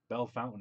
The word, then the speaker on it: Bellefontaine: And people in Ohio, if you go to Bell Fountain, Ohio. You mean Ohio? Yeah, right. Bell Fountain, Ohio is actually spelled Bellefontaine.